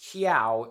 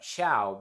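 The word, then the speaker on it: Chao: trailer for this movie I thought the word was pronounced kiao instead of chiao because you know it's Japan maybe they pronounce it differently so I tried to my best to see how they would pronounce it but what do you know it's just it's just chiao it's just basic English anyways the thing is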